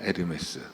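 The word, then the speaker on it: Hermès: 에르메스. 예. 프랑스 사람들은 H라는 발음을 무음으로 쓰기 때문에 그 에르메스 신이 여기서 나온 거예요.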